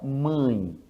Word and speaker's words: mãe: você pega a palavra mãe aí você lembra que este a ele é grafado com acento til sobre ele observa que quando você fala mã ã esse ã é nasal entende então este acento